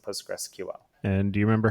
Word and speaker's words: PostgreSQL: there I've heard things like post gray SQL post gray Po postgressql and you know some some you know weird intonation on that but it's postgress and postgressql and do you remember